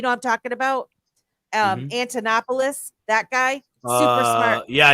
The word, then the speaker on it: Antonopoulos: he first came in the space him and andonopoulos I always say his name wrong those two I was listening to a lot you know I'm talking about um Antonopoulos that guy super smart yeah yeah not pomp